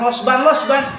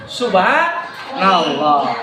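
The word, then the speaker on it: سبحان الله: Jangan dijadikan plesetan, bas, losban, nggak boleh. Bacanya bukan losban, subhanallah.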